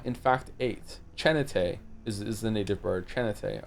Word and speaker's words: Chin8: It's pronounced Chanate. Chanata, not Chan8.